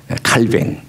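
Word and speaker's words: Calvin: 개신교의 큰 별이라고 또 얘기하는 칼뱅 그 발음 그대로 표현하면은 칼뱅 우리 이제 영어식으로 얘기하면 칼빈이라고 하는 사람이 이런 말을 했습니다.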